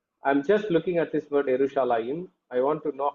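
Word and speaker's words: ירושלים: So Eru is 1 syllable. Sha is another syllable.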